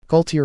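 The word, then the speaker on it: Gualtier: Your name is Galtier, if it is pronounced properly. Galtier or Walter, whichever it is, I do not care.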